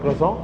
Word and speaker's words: croissant: Uh there is a big fuss about it is croso or croans and many names. Uh many different pronunciation. I call it crosso. Uh quite French.